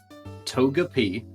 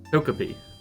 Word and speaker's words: Togepi: Togeap. Togepi.